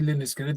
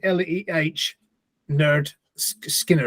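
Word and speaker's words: Lynyrd Skynyrd: No, it's only because I used to say Leonard Skinner. Then when I first saw it, it said LEH Nerd Skinner, and I thought, oh well, that's been pronounced wrong all those years.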